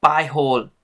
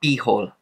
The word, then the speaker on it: HOOBS: wanted correct for my past video is the pronunciation it's by whole and not be whole once again it's not be whole it's by